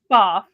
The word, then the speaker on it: Pfaff: It's pronounced Pfaff. A lot of people do call it Pfaff. Um but I used to work for the company and it is Pfaff.